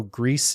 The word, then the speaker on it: Gris: far and doesn't know Greece is the Spanish word for gray so that is how we know the pronunciation of the title red is introduced into